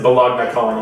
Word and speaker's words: Balog Nicole: Yeah, I actually decided to pronounce it Bologna Colony instead of Bologna That's how I just say it.